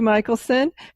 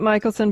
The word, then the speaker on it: Michelson: Julie spell your name pronounced at Michaelson but it's not spelled that way I found out so spelled wrong Mich els o n is missing the a okay great we'll have